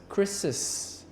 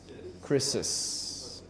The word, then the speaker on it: Chris's: s and then we I see this pronounced as chrisis chrisis yes because if you just say Chris you don't you cannot identify the the the possessive so you say chrisis